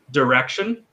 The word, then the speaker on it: direction: yeah so direction um in an american accent that i is almost not pronounced it's direction direction so it's it's yeah it's a it's a schwa it's a it's a half vowel a very short vowel sound um same divorce divorce